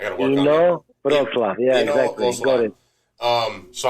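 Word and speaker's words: Inowrocław: I don't want to mispronounce the name of your town, but tell me one more time. Inowroclaw. What is it? Inowroclaw. Inowroclaw. I got to work on that. Inowroclaw.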